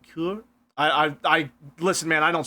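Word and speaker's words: cœur: It's pronounced cour.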